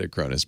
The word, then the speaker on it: Acronis: Somebody said, I'm glad you're doing ads for Acronis because now I know how to pronounce it. I asked him. I've always said Acronis, but I'm glad to know I was right.